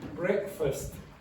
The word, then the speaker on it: breakfast: Which one is the strong one here? The first one is the strong one. Okay? And it's pronounced like that.